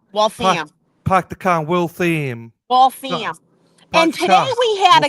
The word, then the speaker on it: Waltham: It's not Waltham, it's Waltham. Like the ham. Waltham. Park the car, Waltham. Waltham.